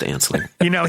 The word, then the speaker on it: Anslinger: Well, it's spelled ass-liquor, but it's pronounced Anslinger.